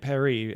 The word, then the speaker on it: Paris: Paris I'm always like it's supposed to be pronounced Emily and Perry and the Creator hates the fact that no one calls it that and isn't she going